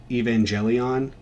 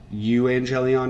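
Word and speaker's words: εὐαγγέλιον: corresponding with that is again 577, which is evangelion, or euangelion essentially in Greek. That's how it's spelled.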